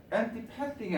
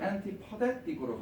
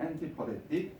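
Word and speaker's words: antipathetic: 밑에는 발음이 앤티패틱이 아니라 앤티퍼데틱으로 갑니다. 발음이 조금 바뀌어요. 발음 좀 웃기겠지만 이게 맞는 발음이에요. 엔티퍼데틱.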